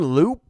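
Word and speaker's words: Loup: about it so aaron loop up i hope i'm pronouncing that right gotta be right spelled like soup but with an l good old aaron here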